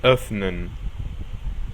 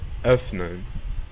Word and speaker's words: öffnen: La O umlaut se pronuncia como si fuese una combinación entre la letra O y la letra E. Lo mejor que pueden hacer es pronunciar una O normal, pero como si estuvieran algo de asco. Suena raro, pero es así. O. Por ejemplo, el verbo abrir, öffnen, öffnen.